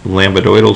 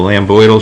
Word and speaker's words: lambdoidal: plane we have an lambdoidal suture that's not actually how you say it but that's how fancy likes to see it because it helps her spell it so Lam boydle suture looks like a